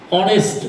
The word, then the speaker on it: honest: Example, honest man. It is not honest man, as it is honest. H is silent here.